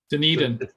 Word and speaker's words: Dunedin: uh the uh the it's pronounced Dunedin is that how it's pronounced no Dunedin Dunedin Dunedin okay I'd love for